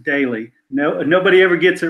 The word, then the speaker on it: Doelle: It's going great, and I won't hold it against you, but it's pronounced daily.